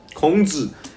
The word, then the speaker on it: Kong: It's not King Kong. Once again, you said it wrong. It's King Kong. You understand? King Kong. K-O-N-G. Kong is... K-O-N-G is spelled... is pronounced Kong. King Kong. Like Sun Wukong.